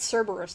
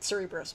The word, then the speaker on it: Cerberus: on to Cerberus which I think I've been I've been pronouncing it wrong this whole time it spelled Cerberus not Cerebrus but whatever who even cares I